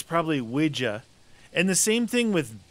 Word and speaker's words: Ouija: Well, like the Ouija board.